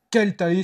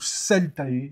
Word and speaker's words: Celtae: Salut mes ludopathes préférés, on est là pour vous parler de Keltae si vous parlez latin, ou Celtae si vous avez envie de le prononcer à la française, un jeu de gestion